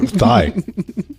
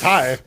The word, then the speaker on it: Thai: No, thigh. Thigh, thigh. The What, other one's you a don't- mystery. you don't pronounce the H on that one. No, it's Thai. It's Thailand. Not Thailand.